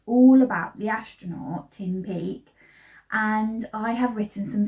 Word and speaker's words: Peake: And he has also got an E at the end, but we don't pronounce that as an E. So it's Peak, Tim Peak.